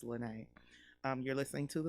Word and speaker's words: Lyne't: last name ryan so it might look like lynette but it's lynnae um you're listening to the lynnae gray show on kuaw radio most likely you're listening to or watching the lynnae gray show right now